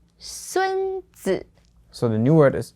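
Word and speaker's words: 孙子: So this was 孙子. Yeah. Okay. 孙子. And again, for esteemed titles, 子 here is always the third tone, and it's commonly paired with 孙, the last name, or 孔, the last name.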